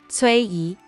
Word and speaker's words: Cui Yi: The fans called Tracy Wilson Cui Yi. Cui is just the phonetic approximation of the first pronunciation in Tracy.